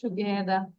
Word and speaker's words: together: টুগেদার আর এর উচ্চারণটা আমরা করবো না, don't pronouns are, just টুগেদার।